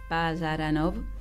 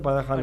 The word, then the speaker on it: Parajanov: Sí, el color de la granada de Sergei Pajaranov. Es lo pronuncié armenio. mal, yo dije Parajanov, digo Bueno, siempre Parajanov.